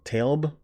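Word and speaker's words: Tlaib: act and it's by rashida i believe it's pronounced talb forgive me if i'm wrong she is the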